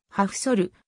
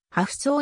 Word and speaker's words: Hafþór: 選手ホフさあの本来の発音はハフソルまたはアフそうに近いが日本では